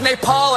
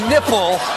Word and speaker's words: Nepal: president those young people are about to get a dose of reality Bhutan as button and mispronounced Nepal as nipple this country you argue it looks like you